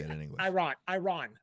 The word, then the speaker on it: Iran: Oh my God, it'd be catastrophic, Iran. right? That's how you say it in English. Iran, right?